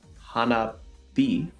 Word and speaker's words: 花火: They're pronounced hana bi and hi bana. In both situations, the h sound becomes a b sound.